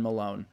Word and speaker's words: Malone: and this is her friend Malone.